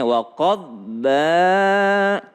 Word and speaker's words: وقضبا: Ini kalau bo tidak qalqalah maka bacanya waqadba.